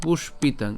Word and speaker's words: পুষ্পিতাং: এরপর পুষ্পিতাং, আমরা এখানে পুষ্পিতাং উচ্চারণ করার ক্ষেত্রে কীভাবে উচ্চারণ করছি, মূর্ধন্য ষ পর্যন্ত উচ্চারণ করলাম, পুষ, এরপরে কি পিতাং, ঠিক আছে, পুষ্পিতাং।